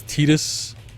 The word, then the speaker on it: Tidus: lane but yeah sure also you're you're mispronouncing it like i am it's it's titus thank you yeah i thought they delayed it into november speaking of final fantasy 15.